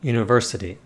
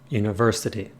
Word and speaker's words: university: a word like university the ver receives more force than the surrounding parts university university so when we hit